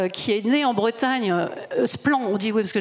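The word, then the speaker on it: Splann: Et je ferai allusion à une petite structure qui s'appelle Splan, qui est née en Bretagne. Splan, on dit oui, parce que j'ai pas l'accent breton, pardon.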